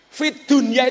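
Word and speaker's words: في الدنيا: Fid dunya itu bacaan apa? Harusnya idgham loh. Fid dunya. Tapi ternyata membacanya bukan idgham, tapi apa? Idhar. Fid dunya.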